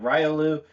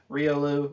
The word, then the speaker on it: Riolu: There's three ways I'll say it: Riolu, Riolu, or Riolu. Different emphasis on each syllable.